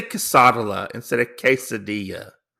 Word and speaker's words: quesadilla: so I say quesadilla instead of quesadilla. It's quesadilla. Casadala, I mispronounce it on purpose, okay?